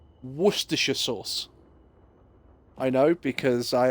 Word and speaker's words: Worcestershire: or source for those who don't know it's pronounced Worcestershire sauce I know because I actually live in